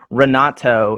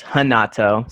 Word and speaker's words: Renato: me if i'm wrong is the r if you're brazilian pronounces an h rodriguez yeah rodriguez i'm pretty sure i know like hanato is i mean renato is hanato so yeah it is like an h i'm pretty sure okay